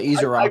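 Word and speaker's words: Ezeiruaku: Yeah, Izaraku.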